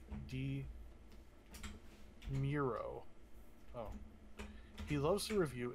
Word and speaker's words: DeMuro: viewer named doug demuro demero is pronounced like d miro oh he loves to